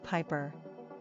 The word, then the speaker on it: Piper: Pronunciation, Piper. Simple meaning, pipe player. Characteristics of Piper.